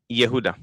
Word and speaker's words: Yehuda: Yehuda? Did I say it right this time? Yehuda. It's just the J pronounced it as a Y.